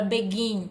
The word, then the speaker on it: begin: Olha a palavra begin, iniciar, né? Começar. Begin. A sílaba mais forte é o gin.